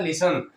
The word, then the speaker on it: listen: यहाँ पर देखेंगे टी साइलेंट है, LISEN में पढ़ा जा रहा है लिसन।